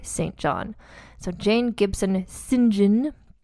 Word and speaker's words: St. John: And then her son Percy Florence married yet another Jane Gibson St. John. You see how I pronounce that? That's what British people say, St. John.